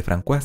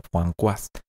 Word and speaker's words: François: Y sí, François debería sonar más bien como François.